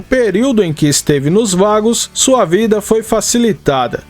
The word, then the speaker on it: Vagos: A pronúncia é vagos e não veicos. Ela vem da palavra espanhola vagabundo.